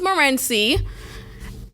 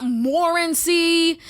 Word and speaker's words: Morenci: you are right so my last name is Morenci and that is how you say it right it's not morency it's not morency it's not morenzie like I don't how